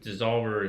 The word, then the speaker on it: DSSOLVR: So anyways, it's called Dissolver is what we're going with, and it's spelled DSSOLVR.